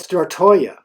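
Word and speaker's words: Stortorget: the gamma stand grand square it is called star Toya yes that is the correct pronunciation these green red and yellow buildings are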